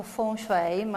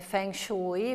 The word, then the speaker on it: feng shui: mia pronuncia assolutamente impropria diciamo che il termine tecnico viene pronunciato full frame a tutti lo leggete sui giornali come feng shui potete tranquillamente pronunciarlo capirlo come preferite in realtà alberta questa